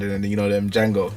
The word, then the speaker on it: Django: It's basically Jamie Foxx said it never happened, and then you know them Django, the D is silent.